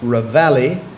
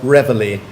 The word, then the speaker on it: reveille: with your new word you've got two pronunciations you can either have Ravalli or revelry Ravalli or revelry reveille